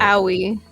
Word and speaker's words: Aoi: By the way, Aoi... Aoi? How do you say it? Owie.